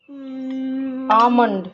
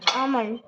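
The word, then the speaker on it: almond: তো একটা নাম আছে আমন্ড আমন্ড ওটা এল থাকে এলটা সাইলেন্ট থাকে ওহ আমাকে দেখা যাচ্ছে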